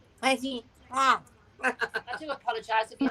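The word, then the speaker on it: petits pois: What's when you say petit pois, you've got to say it so you've got blocked nostrils. So you've got to say petit pois.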